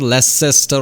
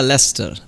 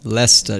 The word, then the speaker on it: Leicester: is it it is less than it's not less sister or something yeah lester lester yeah after the final syllable is silent norwich beric southern norwich it's